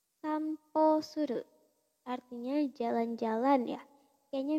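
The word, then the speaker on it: 散歩: Kalau ketemu kanji ini dia dibacanya jadi po. Sampo suru artinya jalan-jalan ya.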